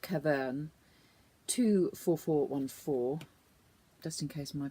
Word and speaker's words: Caverne: This colour is called Caverne 24414, just in case my pronunciation misleads you.